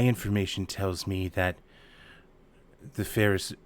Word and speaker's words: Ferrus: You want to spell that for me, Doctor? Sure. FERRUS. Ferris.